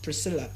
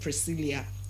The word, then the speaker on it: Priscilla: Now we also looked at another name as P R I S Priscilla. And not Priscilia. It is not Priscilia but Priscilla.